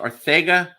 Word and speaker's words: Arcega: And then if your last name's Arthega or Arcega and it's pronounced Arthega, stay the hell away.